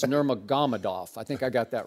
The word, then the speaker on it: Nurmagomedov: and I'll call him Habib, because I can't pronounce his last name. I think it's Nurmagomedov.